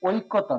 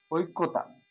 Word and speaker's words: ঐকতান: এবার হচ্ছে ঐকতান, ওই থাকলে হচ্ছে এইভাবে করতে হবে, ওই, ওই, ঐকতান, ঐক, ওই, ঐকতান, ঐক্যতান, সঠিক হচ্ছে না, ঐক্যতান।